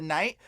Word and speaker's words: knight: shining armor right the Knight because what happened was etymologically it broke down to kite that's why there's a silent k in front of the word Knight because they originally kites